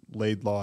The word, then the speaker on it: Laidlaw: I mean, it's like very simple phonically. It's Laidlaw. It's spelled Laidlaw. Right. My dad always says it, you know, it looks like it sounds, and people still, for whatever reason.